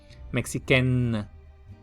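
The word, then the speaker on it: mexicaine: no sale larga y los femeninos se pronuncian casi igual pero con una n más larga y una n normal Por así decirlo sería la la lengua tocando los dientes o el palar de arriba mexiquen ameriken afriken marquen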